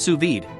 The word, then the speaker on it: sous vide: what's on your menu what to cook sued pronounced suid cooking offers the perfect level of dumbness for